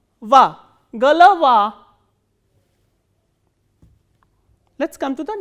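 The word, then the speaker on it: голова: So, these unstressed o will be pronounced as a. So, g, l, va, galava.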